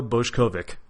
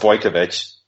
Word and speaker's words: Bojkovic: a talented young up-and-comer from particle effect Bush Kovac it's pronounced boy kovitch boy camacho man that's okay people mispronounce it